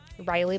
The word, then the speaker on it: Ryelee: And then yeah, Riley, my name is spelled super weird.